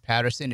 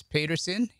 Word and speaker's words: Peterson: to have jeff peterson it's not patterson it's peterson he said he knows who his friends are by the way they pronounce his last name so i'm saying peterson jim peterson ceo of